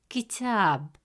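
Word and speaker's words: كتاب: Since the long vowel alif comes immediately after ta, it stretches the short a sound into a long a sound. Instead of pronouncing it as ta, the presence of alif makes it ta. As a result, the correct pronunciation of the word is kitab, kitab.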